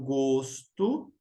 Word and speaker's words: gosto: diferente na pronúncia então Gosto de gosto tenho gosto por morango substantivo nome eu gosto de você o primeiro o é fechado como como cuidar no